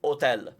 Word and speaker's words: hotel: we don't pronounce it so it's spelt hotel with a h but we still say hotel so yeah there are